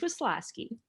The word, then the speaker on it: Waslowski: So with that, we have Waslowski. Did I pronounce it correct? Yeah. I only call her. You did a good job. Waslowski.